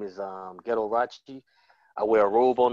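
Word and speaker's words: Ghetto Rauchi: I have a comedy special called Ghetto Rachi. It rhymes with Liberace, but it's spelled Ghetto Rachi, G-H-E-T-T-O-R-A-U-C-H-I.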